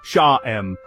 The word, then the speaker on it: Sham: The mantra Sham, pronounced Sha-em, is specifically associated with the Ajna, third eye chakra.